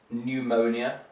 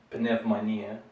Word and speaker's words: pneumonia: Here there's another strange one, pneumonia, so the P is silent, like in a similar word, pneumatic, for example, also has a P in there.